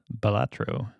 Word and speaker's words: Balatro: Balatro. It's Balatro. Balato?